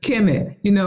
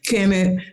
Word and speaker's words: Kemet: So when people ask about that question, Kemet, I go there. It's KMT. It wasn't no vowels in that. They added the E's so people could pronounce it, right?